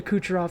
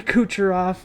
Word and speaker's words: Kucherov: i don't have nikita kucherov that's because famously the announcer butchered it and said dimitri kucheroff on the on the call